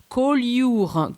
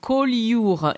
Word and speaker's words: Collioure: Collioure, Collioure. It's kind of hard to say for foreigners. It's spelled C-O-L-L-I-O-U-R-E.